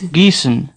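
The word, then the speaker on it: Gießen: one the next is Giessen se dicen the odd letter in the middle of the word is pronounced like a sharp s Giessen se dicen Giessen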